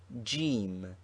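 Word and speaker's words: جيم: is this sign jim it is the letter jim which is the english j but pronounced hard g in egypt the initial form of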